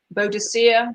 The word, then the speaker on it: Boadicea: number six is and there's interpretation to point out for pronunciation here Boadicea Boudicca whichever you are give yourself a point you got either